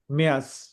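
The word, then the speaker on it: Mai: और मार्च को कहेंगे मेयर्स मेयर्स मेयर्स या मेयर्स मेयर्स मेयर्स या मेयर्स अप्रैल और अप्रैल को कहेंगे अप्रैल अप्रैल अप्रैल और मई को कहेंगे माय सिंपली माय ठीक है माय इंग्लिश वाला माय माय यूनी या यूननी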